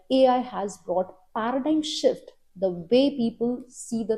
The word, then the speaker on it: paradigm shift: are saying Paradigm Shift of course the spellings don't follow the pronunciation but this is how we pronounce it Paradigm Shift you can use this